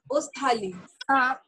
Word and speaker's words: Australie: Do you pronounce Australia? Australie.